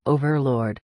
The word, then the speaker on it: overlord: Answer: you pronounce it by putting a heavy stress on the very first letter. Overlord.